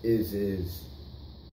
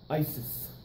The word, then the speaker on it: ISIS: of what is this is is oh former president Roosevelt it is pronounced Isis not is is Isis also known as